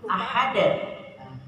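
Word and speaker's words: أحد: itu berat banget ya jadi Kalam aja Ahad ya ya tidak ditekan ya tidak ditekan dengan susah tapi gampang aja Ahad Hnya kecil ahad ahad ahad allahus Allah nah sebelumnya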